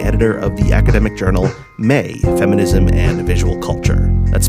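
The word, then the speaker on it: Mai: also the managing editor of the academic journal May, Feminism and Visual Culture. That's spelled M-A-I.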